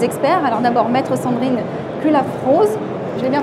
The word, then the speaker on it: Cullafroz: Alors d'abord, Maître Sandrine Culafrose. Je l'ai bien prononcé?